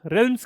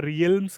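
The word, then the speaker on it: realms: अब हम बात करते हैं कॉमनवेल्थ रेल्म्स के बारे में। इसे हम वैसे रियल्म्स कहते हैं वैसे, लेकिन इट्स ऑफिशियली मतलब इसको प्रोनाउंस करा जाता है रेल्म्स, कॉमनवेल्थ रेल्म्स।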